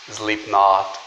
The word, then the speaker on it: Slipknot: Você tem um K ali, esse K ele não é pronunciado, a mesma coisa acontece com o T lá no final. Essa pronúncia vai só até o T, não existe ali um I.